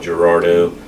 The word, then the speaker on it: Girardeau: tomorrow morning orange and Cape how do you pronounce Cape Girardeau Gerardo then we're heading to southern Illinois and then